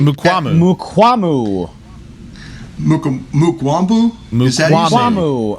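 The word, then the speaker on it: Mukuamu: Mukwambu. Mukwambu? Is that Mukwambu. Oh, no, there's no B in there, my guy. Mukwambu. Yeah. There we go. Mukwambu. There you go.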